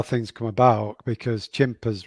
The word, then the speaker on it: Chimpers: things come about because chimpers rhymes with tempers and that's actually how